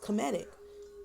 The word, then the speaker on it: cymatic: on comedic Jewel and cymatic is pronounced comedic comedic okay this one say